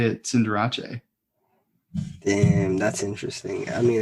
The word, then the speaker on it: Cinderace: you been pronouncing it we've been pronouncing it cinderace and it's cinderache no way yes isn't